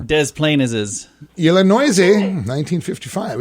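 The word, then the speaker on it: Des Plaines: planes illinois yeah yeah a lot of silent s is going on there dez plain as is yellow noisy 1955.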